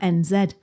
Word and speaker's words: NZ: Look, Bri, you can't come over here calling it NZ. It's NZ. It's NZ. I'm sorry. Yeah. That's and also it doesn't rhyme with our NZ ahead. Doesn't rhyme with N zed ahead.